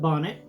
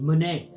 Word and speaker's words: Bonnet: the doctors said was Manet, Manet, Manet, Manet. No, now, if you're a doctor and you're watching this, whenever you tell a patient they have Charles Manet syndrome, please pronounce it Charles Bonnet syndrome and explain to them